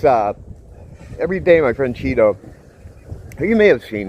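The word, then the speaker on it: Chido: She uh sends me these, and by Cheeto, not Cheeto like the one you eat or name is spelled Ch I D O.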